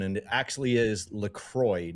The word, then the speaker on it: LaCroix: Despite the French sounding version, it's an American brand created in Wisconsin, and the company itself officially confirmed that it's LaCroix.